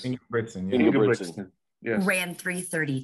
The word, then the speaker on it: Ingebrigtsen: And then Jacob, and I always say it wrong. Ingebrigtsen, is that right? Yes, Ingebrigtsen.